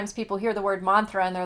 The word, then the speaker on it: mantra: talk about a mantra if you say it like how you would pronounce it in Sanskrit it's Mantra okay and um and you flip the r but when you what